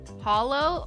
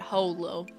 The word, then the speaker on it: holo: B one more question is hollow pronounced Hollow or Holo I say Hollow but some people insist it's Holo love you Christine hope you enjoy my letter um it's Hollow not Holo y Holo um but